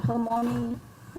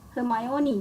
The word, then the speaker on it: Hermione: on what what how to say this uh her morning harmony how to say this name hermione right from ioni and gentle half giant hungry